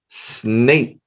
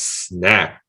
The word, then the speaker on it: snake: Snake. Now be careful. A lot of times people want to pronounce this as snack. Oh, we don't say snack. We don't eat snakes for snacks. Okay. So snake.